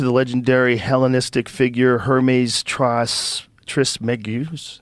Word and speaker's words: Trismegistus: Though attributed to the legendary Hellenistic figure Hermes Trismegistus. How do you say it, bro? Trismegistus.